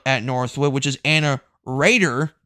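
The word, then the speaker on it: Roeder: Northwood which is Anna Raider not rer Raider it's spelled r o e d e r but it's actually pronounced as Raider I'm pretty sure she's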